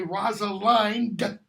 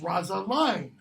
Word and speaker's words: Rosaline: As You Like It, I'll say Rosalind, and sometimes just Rosaline. Why? Because Orlando, when they're off in the forest of Arden, is nailing this crappy poetry to all these trees. And in some of the poems, he has thine, ein, Rosa, line. All 3 rhyme.